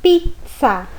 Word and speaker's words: pizza: Quando são 2 vezes o Z, que nós chamamos de doppia zeta, então esse som se torna como se fosse um TS, igual pizza.